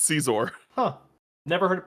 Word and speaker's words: Caesar: need to scroll faster scissor I said CES but hm Caesar Caesar oh whatever uh is it supposed to be scissor like scissors though no it's Caesar huh never heard it